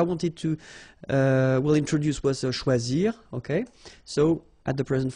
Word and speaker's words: choisi: Okay, same rule, you don't pronounce them. So phonetically, you will have choisi, choisi, choisi, choisi, choisi, choisi, choisi, and choisi. So the same phonetical form, okay?